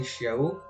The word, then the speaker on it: Xiao: Et donc le X ça se prononce CH. Je sais que c'est un petit peu compliqué la langue chinoise voire japonaise. Donc c'est Xiao qui a une compétence